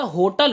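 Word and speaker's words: hotel: हैं, है ना, तो ब्रिटिश इंग्लिश के अंदर इसको हा से शुरू किया था, होटल होता है। लेकिन अगर मैं अमेरिकन लैंग्वेज की बात करूं, अमेरिकन इंग्लिश के अंदर क्या होता है, इसको अ से ऐसे डिनोट, मतलब ये साइलेंट होता है, ओटल पढ़ते हैं इसको, ओटल, है ना।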